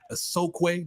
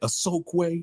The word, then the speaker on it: Osokwe: Thank you, Osokwe. That's how you say it. Osokwe.